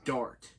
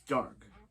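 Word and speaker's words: Darhk: was watching this episode, I just thought I heard him say his name was Damien Dart. It's Dark.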